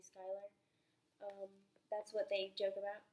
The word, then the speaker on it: Skylar: instead we're best friends Skylar could also be pronounced as Schuler but it's mainly Skylar that's what they joke